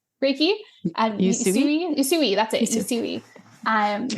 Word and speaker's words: Usui: I'm trained in like the traditional you I can never pronounce it. Usuri Reiki. Usui?